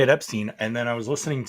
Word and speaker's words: Epstein: earlier they kept saying Epstein and I'm like what who says that my wife's like well it's like the German pronunciation I'm like yeah but